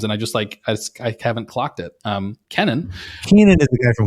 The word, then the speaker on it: Kennan: I'm embarrassed to say I don't know how to pronounce it. It's Kennan.